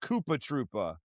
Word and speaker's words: Koopa Troopa: So, I believe he's letting us know right there that it is actually supposed to be pronounced Koopa Troopa.